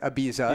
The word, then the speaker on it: Ibiza: the hot beef here like in the US it's like Ibiza yeah but there it's like a beef right you're on a